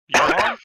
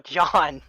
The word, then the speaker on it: John: Yawn? No, John. I believe it's just pronounced John.